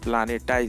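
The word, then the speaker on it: πλανῆται: The word planet comes from the Greek word प्लानेटाई। ये Greek word आया है, इसका प्रोनाउंसिएशन प्लानेटाई से, है ना।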